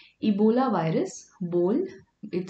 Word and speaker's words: Ebola: a bowl of spaghetti so the way you pronounce it see ebola ebola virus bold it sounds like a bowl so